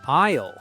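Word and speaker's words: aisle: and they will say it's an isle 4. Isle. That's a funny word. It's spelled a i s l e, but you say isle. The s is silent.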